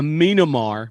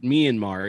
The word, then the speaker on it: Myanmar: a a sorry a minamar because the person who asked the question doesn't under doesn't know that myanmar is how you say the cut the country's name uh why couldn't a